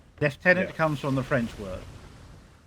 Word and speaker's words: lieutenant: It It's left tenant. God damn it. Yes, it is left tenant. It's left tenant. Not lieutenant. You're not a tenant of a toilet.